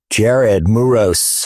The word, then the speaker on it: Jared Muros: Jared Muros.